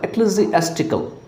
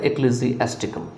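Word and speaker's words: ecclesiastical: Next जो है इसमें वो है आपका एक्लेसियास्टिकल। एक्लेसियास्टिकल याद रखिएगा, स्पेलिंग थोड़ा टफ है, तो इक्ली यहाँ पे इसली नहीं बोलेंगे, ई सी जो लगा हुआ है इसको इक्ली बोलेंगे, ECCLESI लगा हुआ है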